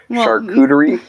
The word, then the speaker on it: charcuterie: in high school and I can't do that cooter II did I say right yes the more glasses